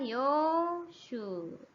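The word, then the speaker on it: 洋酒: Ya, jadi bacanya apa? Yoshu.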